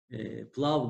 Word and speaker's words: Plav: Güneşli gündeyken gidelim Pilav. diyoruz. Pilav Gölü. Pilav. Yani bildiğimiz pilav diye yazılıyor. Hayır, arada iyi yok. Ha, pilav. Doğru. Bizde iyi yok. Var mıydı? Var değil mi bizde? Plav diye okunuyor.